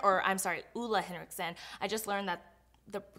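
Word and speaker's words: Ole Henriksen: ride-or-die product for me is this toner from Olay Henriksen or I'm sorry EULA Henrickson I just learned that the correct pronunciation is actually listen but anyway so EULA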